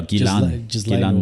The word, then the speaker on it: Ghislaine: Yeah, Ghislaine Maxwell. Is that how you pronounce it?